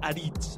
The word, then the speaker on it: Aritz: Es pronuncia Aritz, oi, Aritz? Però tant és. Ell ho pot pronunciar com vulgui.